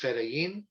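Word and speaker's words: fedayeen: for those interested federian f-i-d-a post-free i-y-y-i-n pronounced pronounced ferayin the popular front for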